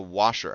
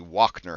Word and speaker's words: Wachner: in the basement of the washer house or the wachner house I have learned is how it's actually pronounced um I feel kind of